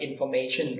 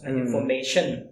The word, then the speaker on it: information: to pronounce it like information right CH anything could be like higher at the end but if we can teach students to pronounce is like to know the stress of the word information information right and that can